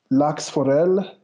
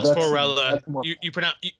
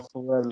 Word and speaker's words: Lachsforelle: Okay, so here we have, let's see, lachsforelle. No, lachsforelle. You pronounce the E on the end. It's not French. Okay, lachsforelle. Forelle or forella?